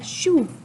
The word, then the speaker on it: jouent: Nos papas jouent avec nous. Lorsqu'il y a un ENT à la fin du verbe, on ne prononce pas le ENT, donc c'est joue pas, joue.